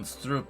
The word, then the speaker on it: stroop: In a Dutch shop, you'd get the right item pronounced like that.